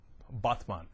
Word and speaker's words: Batman: She lives in Batman. Batman, actually, is how it's pronounced.